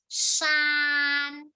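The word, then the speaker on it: 山: คะ อัน นี้ นี้ คำ นี้ อ่าน ว่า ซาน ซาน ซื่อ ภู เขา ใช่ ไหม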